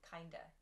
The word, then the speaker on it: kinda: bit or somewhat i kind of want to eat vietnamese food for dinner you'll also notice that the pronunciation there changes to kinda kinda not kind of but kinda kinda depending